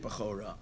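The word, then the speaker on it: בכורה: But in truth, it's spelled without a vav, but in its pronunciation, it's with a vav.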